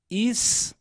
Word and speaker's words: história: essa diferença Abis Abis no caso de história já acontece diferente nesse caso nós diríamos que em História nós temos uma paroxítona terminada em ditongo crescente porque há dois sons vocálicos na mesma sílaba mas agora a semivogal é mais fraca do que a vogal a perceba a pronúncia padrão aqui no Brasil hisória E aí você está